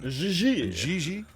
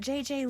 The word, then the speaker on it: Gigi: you mean gigi link js don't exist in france i mean jj gg jj on fiance you pronounce g like j and jay like g she may very well be jj in america but in france she is gigi has she done modeling